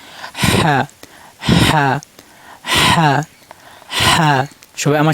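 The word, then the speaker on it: ح: এটা হলকের মধ্যখান থেকেও, মানে গলার মধ্যখানে একটু চাপ দিয়ে উচ্চারণ করবেন। হ্যাঁ হ্যাঁ হ্যাঁ হ্যাঁ।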